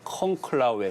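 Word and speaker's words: conclave: 네, 일단 뭐 한글로 쓰면 콩클라베 이렇게 이제 표현을 하는데 그 제가 라틴어로 이제 듣기를 해보니까 콩클라웨 뭐 이렇게 콩클라웨. 발음하더라고요.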